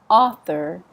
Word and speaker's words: author: Stress on the Author.